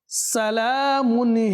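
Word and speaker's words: سلام: উচ্চারণ ভুল হচ্ছে সালামুন স্পষ্ট হয় ইয়া যেন না হয় সালামুন হাত্তা যেন সুস্পষ্ট হয়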